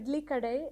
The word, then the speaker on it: Idli Kadai: idly shop idly shop I got it right idly kaday am I saying it right idly kaday actually yeah ID we can say you know